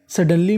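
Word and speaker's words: suddenly: सडनली, सडनली में डी 2 बार है, उच्चारण 1 बार करना है और आखिरी में LY, तो मीनिंग बन गई सडनली, अचानक से।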